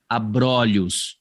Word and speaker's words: abrolhos: Você vai pronunciar a palavra no singular com o fechado e essa mesma palavra, quando você a coloca no plural, o o fica aberto. Então, ali você tem a palavra abrolho, mas quando você põe no plural, abrolhos.